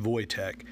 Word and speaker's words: Wojtek: It's spelled W-O-J-T-E-K, but it is pronounced Wojtek.